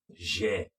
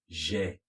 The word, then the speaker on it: j'ai: We're going to use our personal pronouns again, but this time around, J apostrophe j'ai. Can you say that? J'ai. Again. J'ai.